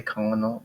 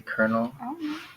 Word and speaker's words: colonel: that's how they say they don't say colonal they say colonel okay I don't know